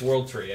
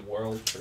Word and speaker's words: World Tree: It's World Tree. I know it's spelled with 0s and 3s and stuff, but it is definitely World Tree.